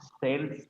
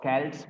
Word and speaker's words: Celts: और इसी वर्ड को, ये वर्ड जो है, इसको अगर आप सेल्स पढ़ें फिर भी सही है, और कैल्ट्स पढ़े फिर भी सही है। लेकिन अमेरिकन और ब्रिटिश का सिर्फ प्रोनाउंसिएशन फर्क होता है।